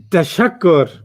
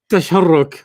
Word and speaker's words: تشكر: Tashakkur. Just like you say it. تشكرا. You pretty sure you don't say tasharruk. You say tashakkur.